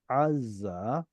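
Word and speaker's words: עזה: Why do we call Azza in English Gaza? Because it's an ayin 2. It's a different ayin.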